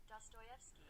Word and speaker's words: Dostoevsky: Let me copy and go to how do you pronounce that? Dostoevsky. Exactly. That was from Russian novelist Dostoevsky.